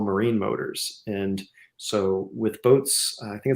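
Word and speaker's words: BOTE: this one yeah right so I think it's pronounced boat if I'm not mistaken okay um and they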